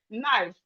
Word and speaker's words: knife: We have it we have examples like knife. The K in knife is silent.